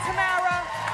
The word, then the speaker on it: Tamara: So Tamar, come on out. Excuse me, Tamara. I said your name wrong.